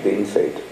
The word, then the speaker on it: Bienfait: It was in French Bienfait, well done, but everybody in Saskatchewan pronounced it as bean fate.